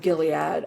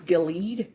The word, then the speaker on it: Gilead: just the Horn of Gilead I don't think which by the way teenage me always pronounced as gilled and I only learned that it was Gilead well I didn't know